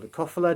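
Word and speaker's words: leucophylla: Um I got some more lucellas or lucophila depending on how you like to pronounce it.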